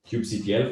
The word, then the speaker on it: kubectl: And then the main discussion point is always like, how do you pronounce this one here? I'll stick to kubectl for today.